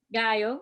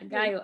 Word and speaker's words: Gallo: Gallo. Yeah, Gallo. I pronounced it in Spanish.